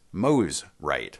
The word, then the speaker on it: Mosrite: support of the Endeavor correctly pronounced Moe's right by the way in